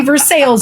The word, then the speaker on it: Versailles: If we call our city Versailles, you don't get to complain about how anyone else says Louisville. You just don't. Point. Like the official pronunciation is Versailles? Yeah.